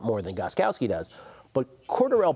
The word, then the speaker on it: Cordarrelle: than Gostkowski does but quarter L Patterson who are now pronounced apparently cordarrelle Patterson I've always thought Cordero